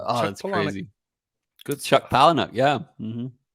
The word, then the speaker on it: Palahniuk: Good Chuck Palahniuk, yeah. Mm-hmm. How do you pronounce it?